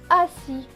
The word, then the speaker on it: assis: Alors, virgule, la lettre A, donc A, deux S qui se prononcent S, avec I, cela donne S et I, si. Le S à la fin est écrit en bleu, donc il ne se prononce pas. Ce mot va donc se lire A, si, assis.